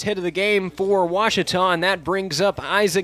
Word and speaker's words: Ouachita: at a baptist university back in texas everybody pronounces it wichita but really it's ouachita washington washington how would you pronounce it it's washita baptist university get it right it's watertall people let's